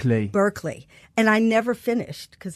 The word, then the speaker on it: Berkeley: That's how you say it. Berkeley.